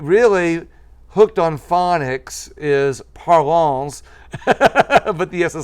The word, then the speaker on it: Parlons: page prolong cafe llc oh and the s is silent yes so it really hooked on phonics is parlons but yes a silent